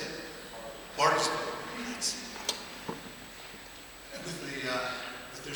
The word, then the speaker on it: Bartlesville: I was in Bartlettville, is that how you say it? Bartlesville.